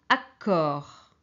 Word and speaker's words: accord: pareil puisque en français puisqueen français C o c'est co donc ici on va prononcer accord accord accord ok c'est le